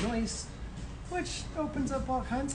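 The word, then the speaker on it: Neus: thought it was pronounced noose but uh a german uh customer came in and uh corrected us and it's actually pronounced noise which opens up all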